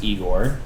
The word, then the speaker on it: Igor: have got igore now this is worth noting that this is pronounced eigor because there are two eigor there's an eigor and an igore in the igore uh so